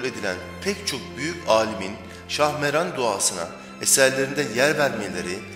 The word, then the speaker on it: Şahmeran: biçimde ortaya çıkmaktadır bu Şahmaran kelimesine çok benzeyen bir de Şahmaran sözcüğü vardır ki bu ifade yılanların Şahı anlamına gelir bu itibarla duanın ismini söylerken kesinlikle Şahmaran ifadesi kullanılmamalı Şahmeran sözcüğünün doğru telaffuz edilmesine dikkat edilmelidir bu işteki